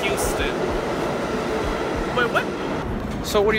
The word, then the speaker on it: Houston: People really thinking this is called Houston instead of Houston.